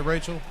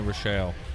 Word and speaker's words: Rochelle: Am I saying it right? Is it Rachel? Is it Rochelle? Something special? Yeah. Fancy? Yeah. If you're from Louisiana, it's definitely Rochelle. None of those names are pronounced like it's spelled.